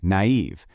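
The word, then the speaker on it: naïve: Or take a word like naive. Those two little dots just tell you to pronounce the ah and the e as two separate sounds.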